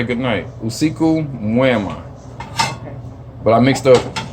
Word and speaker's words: usiku mwema: Usiku wejema. God dang, I said it wrong again. I mixed up both of the words. Usiku mwema.